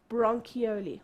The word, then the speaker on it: bronchiole: like a tree smaller those are brong ki yo li sometimes some people spell it with an eye it's fine bronchiole what are bronchioles small